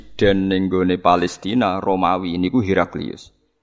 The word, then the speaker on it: Heraclius: Presiden di wilayah Palestina yang dikuasai Romawi adalah Heraclius. Para siswa sekolah berasrama membacanya sebagai "Heraklu."